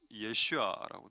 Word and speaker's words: 예슈아: 영어로는 조슈아, 이스라엘 발음으로는 예슈아라고 되어 있습니다.